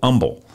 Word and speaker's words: Humble: in texas called called humble or the h is silent and and in that town there was a ophthalmologist named dr mike mann it's about 1981.